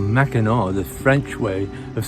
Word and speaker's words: Mackinac: was two different cities same city same island Mackinac is how you pronounce it though yeah but you're going to